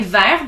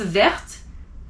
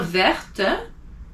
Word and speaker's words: vert: Like vert, the color green, you don't pronounce verte, unless it's a woman, but vert, and it stops there.